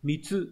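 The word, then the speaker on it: 貢: Chữ cống này có âm cơn là mitsu trong từ mitsugu có nghĩa là cống nạp.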